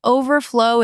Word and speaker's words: overflow: For example, overflow. Overflow is the noun. Overflow is the verb.